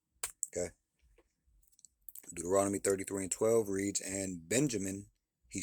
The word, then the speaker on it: Benjamin: Next tribe is Benjamin. Uh how you pronounce that is Byamian.